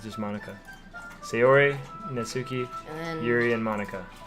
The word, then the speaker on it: Natsuki: You just don't pronounce the T. You, the T is silent? Yeah, Really? Natsuki?